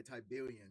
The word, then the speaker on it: tiberium: they're all fighting over is called tiberium okay tiberium that's how you say it okay yeah and